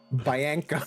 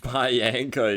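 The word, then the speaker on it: Bianca: All right, I'm not letting you get away with pronouncing her name that way. Biana Bayanka is insane.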